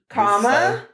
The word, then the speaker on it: Kamala: And the way they did it on this side say, comma. Comma, like the punctuation mark. And then la, like la la la la la. Comma, la.